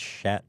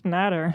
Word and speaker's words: Schnatter: It's Shat. No, it's Schnatter.